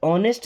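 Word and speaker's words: honest: अब देखिए इस ऑनेस्ट में एच साइलेंट है।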